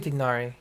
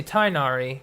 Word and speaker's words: Tignari: People say Tainari because it's one H away from the first part being like thigh or Thai. But yeah, Tignari is proper pronunciation.